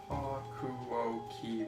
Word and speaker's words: Hakuoki: How did you pronounce it? Hakuoki would be the American.